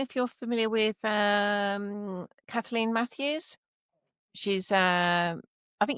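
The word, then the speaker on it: Caitlín: Well, I thought I I would have pronounced it Caitlyn, but it's No, you don't. It's It's written Kalin, but it's a um Irish way of saying that particular spelling of her name.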